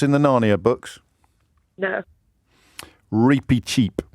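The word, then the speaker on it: Reepicheep: of the mouse I don't know no it's repeat cheap yes thank you cheap cheap so stop texting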